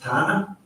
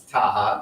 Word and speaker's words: Taha: hope is it s is it pronounced Tana uh it's Taha but it's ah yes